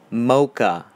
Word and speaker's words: xMoqax: I know it's pronounced Mocha.